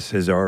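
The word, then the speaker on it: César: the first American ever to be awarded a Cesar award the uh you know the French Oscars appreciate the pronunciation on that yeah thank you Cesar say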